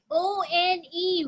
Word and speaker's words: one: O-N-E, one. One is a tricky word. You try to read it phonetically, but you're not going to make a word.